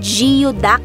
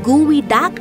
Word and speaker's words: geoduck: narinig niyo mga kaaw Kahit parang giod Duck ang basa nito talagang guwi Duck ang tamang pagbigkas at makikita natin dito